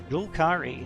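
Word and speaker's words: Zhul'Kari: So ZH is traditionally in English how you write a J sound, like you would find in the word pleasure. Yeah, it's basically ZH is J. So Julkari seems to be the best option as far as I'm concerned.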